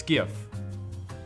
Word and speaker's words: GIF: Is it pronounced the way that it's spelled or some other way that some moron invented? Oh, I wonder. It's GIF.